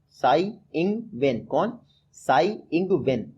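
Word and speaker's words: Tsai Ing-wen: तो प्रेसिडेंट लगातार दूसरी बार बनी है साई इंग वेन। कौन? साई इंग वेन, जब साई मैं बोलता हूँ तो टी से स्पेलिंग शुरू होती है, आप याद रखिएगा।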